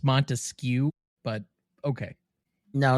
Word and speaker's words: Montesquieu: It's Montesquieu. Mm-hmm. Montesquieu. Montesquieu. That's not how it's pronounced in French. Okay, so now we're doing it based on the French pronunciation in this overly American show, but okay.